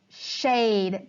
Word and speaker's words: shade: at the beginning yeah it's sh aid shade the e doesn't make a sound and it makes the a say a word detectives are always